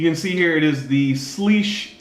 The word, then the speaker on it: Slysz: see here it is thus leash thus lish is my understanding of how to pronounce the slash Bui so I wanted